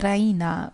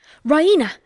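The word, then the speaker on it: Raina: she pronounces it the Rena with the stress on the E Rena she goes to the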